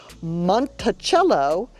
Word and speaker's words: Monticello: Monticello, Monticello, not Monticello, Monticello.